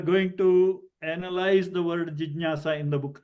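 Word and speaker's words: जिज्ञासा: Okay, so it is not jigyasa or jignyasa. It is jijnyasa. Ja. Jigyasa. Okay, jijnyasa is the same like vijnanam, jnanam, prajnanam, all those.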